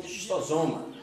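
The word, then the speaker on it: Schistosoma: O agente causador é um verme chamado de xistossoma. Alguns professores pronunciam xistosoma.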